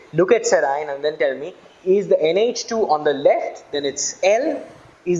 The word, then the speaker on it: serine: letters I and E, and I pronounce them amino acid and I call them serine, valine, threonine, and so forth. But there are also people who pronounce it as valine, serine, amino acid, and so forth. The choice is yours, but it's pronounced either way.